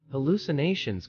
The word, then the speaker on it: hallucination: Pronounce hallucination as hallucin, with the emphasis on the second syllable, lu.